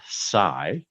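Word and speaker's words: Saigh: Uh, on this day in 1952, a gentleman by the name of Fred Sai, and the last name is spelled S AI GH, was indicted by a federal grand jury on a charge of income tax evasion.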